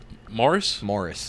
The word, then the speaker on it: Morris: Morris, yeah. Morris, not Maurice.